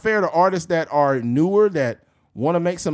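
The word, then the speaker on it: Knew: to shout them out it's an artist named new it's spelled KN NE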